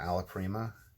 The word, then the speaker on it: alla prima: It seems hardy enough for alla prima, which I believe is the correct pronunciation, which kind of means